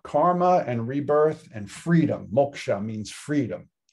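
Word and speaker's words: mokṣa: and rebirth and freedom moksha means freedom that s with the dot under it is pronounced like a sh like an sh sometimes it's just spelled that way sh right but self realization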